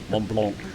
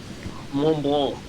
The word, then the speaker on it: Mont Blanc: Mont Blanc, yeah. Mont Blanc. Mont Blanc. Yeah, I think the C at the end of Mont Blanc, you don't pronounce, I think.